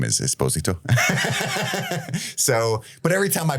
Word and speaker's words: Esposito: It's not your all's fault, but my name is Esposito. So, but every time I pronounce it that way, I get hundreds of people like, loser, idiot.